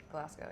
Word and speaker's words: Glasgow: Glasgow, yeah, like Glasgow. Scotland.